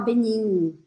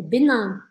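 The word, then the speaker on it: Bénin: Togo Togo Bin Ban e aqui lembra de deixar sua boca aberta não é para falar Benin tá É benan benan camr e aqui é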